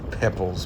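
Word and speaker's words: Poeppel: which incidentally i've been corrected on apparently it's pronounced pebbles but whatever in australia it's spelt popel so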